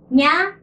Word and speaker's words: にゃ: If it's a small ya, it pronounced as nya. So this is how we combine it. Ni plus ya. Make ya small. Combine it together and becomes nya.